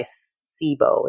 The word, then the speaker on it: SIBO: like you said IBS is mainly caused by sibo is how you pronounce it correct yes and so so you